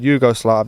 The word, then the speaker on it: Yugoslavs: But September 17th, 1941, Hitler orders that for every dead German, 100 Yugoslavs should be killed. wow. That's insane. That's crazy. Did I pronounce that right?